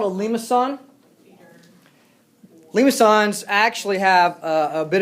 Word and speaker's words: limaçon: The C with the little tail on it is pronounced ks, and so it's limaçon.